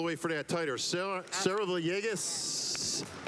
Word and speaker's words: Villegas: I've actually pronounced it with the L's because I'm from New York originally. All right, so she's like, Yegas, like yay, like with a Y, and I'm like, oh, okay, I got you.